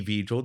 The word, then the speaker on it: Vijal: You can follow me at the Vijal or the Vijal, depending on how you say the word the. They'll remember you better if they say the Vijal. The Vijal. Oh, yeah, nice. T. TV. Yeah, you're right. It rhymes.